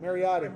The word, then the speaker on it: Mariota: How do you pronounce that? Mariotti.